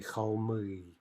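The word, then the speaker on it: холмы: Okay, again, one syllable masculine. We can at least guess that it's going to have in-stressed, and the plural is going to be cholmi.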